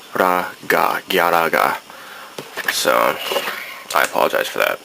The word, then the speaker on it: Galaga: Some people pointed out that I was saying Galaga, and that's just how I grew up saying it. But for those who are purists, it's Galaga.